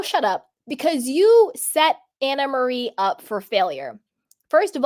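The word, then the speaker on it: Annemarie: and speaking of it she does pronounce her name Anna Marie I had this Troll and my comments a little bit back was like I can't listen to someone who doesn't know how to pronounce her name it's an Marie and I would and I was like I'm pretty sure she pronounces it Anna Marie and she does she does it's Anna Marie so hi troll thank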